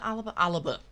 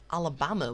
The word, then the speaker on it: Alaba: So Neuer, Alabama. Is it Alaba? Alabama. What am I on about? Alaba.